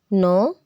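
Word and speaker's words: know: है quick quick quick के जब एन से पहले इस्तेमाल में आता है तो अपनी आवाज को खो देता है जैसे के नो यानी कि अब के साइलेंट हो गया है नो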